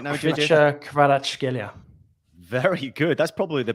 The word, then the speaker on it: Kvaratskhelia: Kvaratskhelia. Very good. That's probably the best pronunciation here.